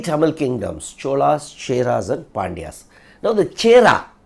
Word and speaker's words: Chera: That Chera kingdom is the present day Kerala. So, all were Tamil kingdom. Now, this Chera, if you see Chera, that Chera can also be pronounced as Kera.